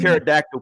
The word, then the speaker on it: pterodactyl: pterodactyl pee? Why? Because the P is silent.